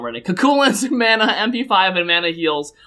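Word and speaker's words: Cú Chulainn: called bzerk now kach said it wrong ready culin Mana MP5 and Mana heels are instead applied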